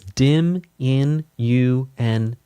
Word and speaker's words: diminuendo: Crescendo, diminuendo, again with the Italian. Here we go. So, crescendo is cendo. Diminuendo is dimminuendo. Dimminuendo dimminuendo. Crescendo. It's technically to correct it. It is technically correct to pronounce multiples of crescendo as crescendi and multiples